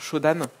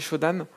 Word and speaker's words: Shodan: il suffit d'aller faire un petit tour sur shodan je sais pas si vous connaissez show dame shodan c'est ça s'écrit s h au dea m et en